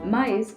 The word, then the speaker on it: maïs: should be pronounced separately there are two words in french. ‘mais’ which means ‘but’and ‘maïs’ which means ‘corn’. they have same spelling but the presence of tréma make the pronunciation different.